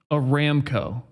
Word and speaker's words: Aramco: find really really interesting Ben W balls says pronounced a ramco a ramco I like a ramco so they can go themselves I call them I call them arameo that's what I call them Marcus says a